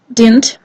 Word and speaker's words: didn't: So and with didn't, it's even worse because it's not only the loss of t, it's also the loss of second d, and one of the most common pronunciations of didn't is did.